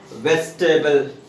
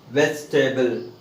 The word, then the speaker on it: vegetable: See, if we take this one separately, we pronounce it like table. But when we add or when we pronounce with VEGA, it is not pronounced like how I have written there, vegetable. No.